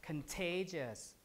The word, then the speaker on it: contagious: word spacious delicious right whenever you see ious or ion the syllable right before it will receive stress so this the stress is te so now you can tell so the t here is aspirated contagious like that and the khan is